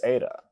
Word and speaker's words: eta: This next letter is eta. It is always a long vowel. It is pronounced like the A in hate.